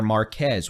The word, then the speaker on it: Marquez: possible tornado one near Marquez or as Mr meteorolog Jason Coy says that is pronounced marqu by the way forget that Z exists so Marque Marque I'm